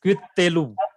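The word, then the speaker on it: קִטְּלוּ: So in a doubling Dagesh, the case is identical to previous one. That is, first is silent and second is vocal. So that is Quittelu.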